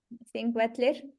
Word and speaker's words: Þingvellir: Tell me how to pronounce that. Thingvellir? Thingvellir? Yeah. Þingvellir.